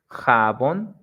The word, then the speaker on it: jabón: Like in the examples we have here, colibrí, the strong sound, it's at the end, brí, colibrí, jabón, jabón, borrador, borrador y café, café.